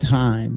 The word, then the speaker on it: thyme: It's called thyme, but it's spelled THYME, but it's thyme.